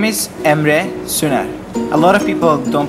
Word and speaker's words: Emre: Fact number one, my name is Ema. A lot of people don't pronounce it right, so I hope you get it.